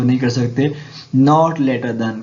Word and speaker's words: NATO: My cousin works for द नेटो. नेटो NATO नहीं पढ़ा, हमने नेटो पढ़ा, तो यहाँ पे हम दा को इस्तेमाल नहीं करेंगे.